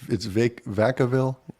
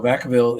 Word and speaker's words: Vacaville: It's Vacaville? Yes. Am I pronouncing that correct? Yes. So Vacaville is a city of about 100,000 people.